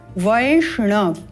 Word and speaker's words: वैष्ण: वो व में यहां व में ऐ का स्वर है पहले मंत्रों में भी आपको बताया है व में जब ऐ का स्वर युक्त है तो इसका उच्चारण व ना करके वय के रूप में करना है थो वय यहां